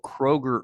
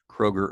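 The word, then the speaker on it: Kroeger: from a company called Kroger herb but it's not spelled like the grocery store it's k r o e g r Kroger herb now the next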